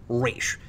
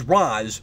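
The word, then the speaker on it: Ra's: to speak of raz shredder pronounces it like the animated series and the way it's traditionally considered correct race but everybody else says roz like in batman begins which is why i pronounced it that way this whole review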